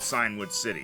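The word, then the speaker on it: Cianwood: Because it's specifically Route 41, not Signwood City, correct? That is what it says. Let me check Signwood City. They spell it weird. C-I-A-N would.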